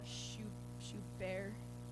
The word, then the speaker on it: Schubert: Basically what I'm saying is that my songwriting is as good as Bach or Schubert. I think you don't pronounce the T on that one, right? Yeah?